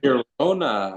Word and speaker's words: Girona: and that Barcelona match and how do you pronounce them again, Trent? What'd you say? Girona Girona.